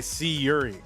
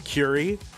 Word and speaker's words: Curi: These are both players whose names I've mispronounced in the past. Curi, because he's got the underscore, and I used to say C Yuri, but it is Curi.